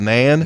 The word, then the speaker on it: naan: How do you pronounce that bread? Naan. Is that Nan? Nan? It's just called Nan.